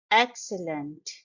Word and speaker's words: excellent: flowers and Lush Greenery excellent It's a three syllable word and the stress is on the first syllable as you can notice